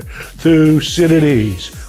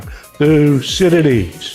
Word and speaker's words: Thucydides: Now I know his uh name is a mouthful and some people have trouble pronouncing it. So let's do it one two three together. Thusidities. One more time. Thusidities. Thusidities.